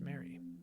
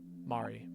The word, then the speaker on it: Mari: I should have been there for you when we lost Mary. Mari. Mari. Mari. Yeah, people have been telling me it's pronounced Mari.